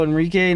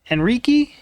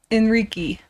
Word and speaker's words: Henrique: Taylor was at work all day, and she just found out about Gabriel Henrique, not Enrique. Gabriel Henrique. I think that's how we heard it pronounced once.